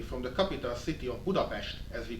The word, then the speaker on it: Budapest: I come from Central Europe, Hungary, more specifically from the capital city of Budapest, as we pronounce it.